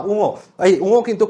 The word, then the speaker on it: ঙ: যেহেতু এগুলো কোনোটাই সন্ধিবদ্ধ শব্দ না, তাহলে এই উঙো উচ্চারণটা কিন্তু উঙো, উমো না। কথা শুনে যেন মনে না হয় যে উমো চুমুর সাথে একটু রিলেটেড, তা উমো না, এটা উঙো।